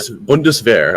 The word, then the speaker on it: Bundeswehr: Bundeswehr. All right. A sh sound. It comes from having like an SCH together. There isn't that in that word.